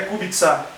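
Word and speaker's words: Kubica: Então é por isso que o nome é kubitsá.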